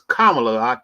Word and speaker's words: Kamala: me make sure I I'll tell everyone it's kamla camela not CAA Harris okay you got so mispronouncing her name right yes uh they they